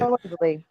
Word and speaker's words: Calendly: Calendly.